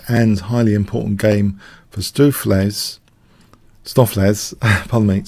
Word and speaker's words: Stoofvlees: highly important game for stew Flay's stuff let's palmate stuff layers is my preferred pronunciation right now so beefs jus kind